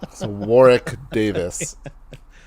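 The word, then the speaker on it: Warwick Davis: are we all right no the second w warrick davis so that's how i pronounce his name all right there we also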